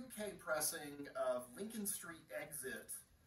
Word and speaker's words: XIT: uh under x-i-t so they spelled it they pronounced it exit but they uh began it with the letter x so lincoln street exit